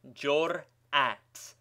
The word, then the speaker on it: jur'at: As example, we may take the word jur'at, pronounced jur'at, with a distinct hiatus between the two syllables and a fresh impulse, hamzeh, before the second half of the word is pronounced.